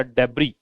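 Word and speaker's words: debris: Trash, rubbish या डेब्री, इसको डेब्री बोलते हैं, डेब्रिस नहीं बोलते, एस इसका से का उच्चारण नहीं देता।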